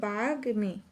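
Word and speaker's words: বাগ্মী: তারপরে যদি গিয়ে দেখি বাগমি বাগমি এর মধ্যে ম ফলাটা গ এর সাথে যুক্ত থাকার কারণে এই ম এর উচ্চারণটা অবিকৃত থাকবে তাহলে হবে বাঘমি ইয়র দিয়ে যদি এটা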